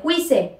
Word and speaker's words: juice: ¿Apple juice? No. Se dice apple, apple, juice. Apple, juice, juice. Recuerden que la J suena más como una Y.